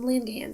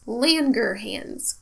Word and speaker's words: Langerhans: CITES Merkel cells in Lindon cells I probably said the last one girl I keep mispronouncing it Lynne your hands Langerhans now melanocytes are cells